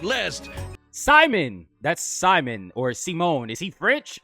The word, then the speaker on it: Simon: It says, Digger, Supreme Commander, Pilot, Hermit, pronounced Simone, is a mangaka in another universe.